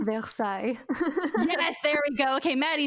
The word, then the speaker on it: Versailles: of versallia facelier it's French so excuse my pronunciation Versailles there we go okay Maddie knows what I'm